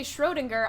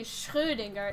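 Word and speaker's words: Schrödinger: here all right maybe english speakers say schrodinger i'm just saying that it's a german name and in german the letter that is in the name the o with the umlauts over it is pronounced uh so it should be schrodinger it's just that nobody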